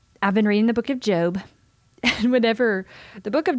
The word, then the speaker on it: Job: You're going to, like, it's spelled like job, J-O-B, Job. And I was like, if you would have just spelled his name, put an A in there, like J-O-A-B, Job, we would never mispronounce it.